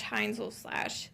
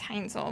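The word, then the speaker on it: Heinzel: Hansel. My last name. It's German. How? Spell it for me. It's h e i n z. Like owl. So it's like hines ketchup with an L.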